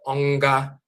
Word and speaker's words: wanga: Now, so here we have a and then ga, and that nga is nasal. So instead of just saying ga, it's nga, nga. So you have onga, onga, and that's onga.